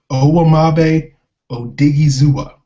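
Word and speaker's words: Owamagbe Odighizuwa: I actually looked up a pronunciation guide. It's Owamabe Odigizua.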